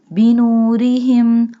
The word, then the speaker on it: بنورهم: Here we doesn't bold ra because ra has a kasra sign. When ra has kasra sign, we doesn't bold ra. بنورهم وتركهم.